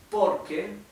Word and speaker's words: porque: aquí estoy diciendo por Pero sería poque sí poque porque la r se pronuncia como casi como una jota nuestra hoy acordó un poco